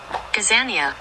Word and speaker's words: Gazania: Gazania, Google it. Gazania.